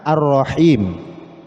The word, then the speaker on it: ar-Rahim: Itu sebetulnya Al-Rahman, Al-Rahim ya. Namun dibacanya Ar-Rahman, Ar-Rahim. Itu karena al ya.